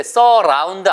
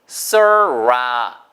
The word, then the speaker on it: surround: 절대 surround 아니고요. 보세요. surround. 입술 동그랗게 모으고 강아지가 걔가 할 때 surround.